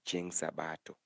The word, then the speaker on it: jumapili: but that one is according to How there are pronunciation from different people like let me say people from Ugenya say jumapili but those people from around Homabay and Migori will call it Cheng Sabato Cheng Sabato like